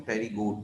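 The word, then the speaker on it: Pterygota: ए टेरिगोट, ए माने तो नहीं, पी, पी साइलेंट है, और इसको हम टेरिगोट पढ़ते हैं, टेरिगोटा या टेरिगोट्स।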